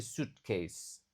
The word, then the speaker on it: suitcase: Huruf e di sini tidak dibaca, bukan " sweet" tetapi "suitcase."